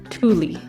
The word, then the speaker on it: Tooele: I have heard it many different ways, but this is what I was told is the correct pronunciation. Tooele spells Thule.